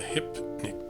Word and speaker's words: hypnic: This is called a hypnic jerk. Hypnic rhymes with picnic.